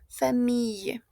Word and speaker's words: famille: Esta I, esta L que vemos acá va a sonar a una Y, ¿d'accord? Famille.